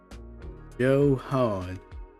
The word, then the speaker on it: Johan: Johan. So, like I'm pronouncing it like uh Gohan, but it's it's Joe instead of Go.